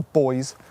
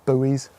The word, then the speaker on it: buoys: get rid of all the boys or buoys if you're american in this photo and